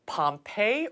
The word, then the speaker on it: Pompey: roan so is it Pompeii or pumpy how do you say your last name I say Pompeii but I've I'm so accustomed to hearing it both ways that I don't even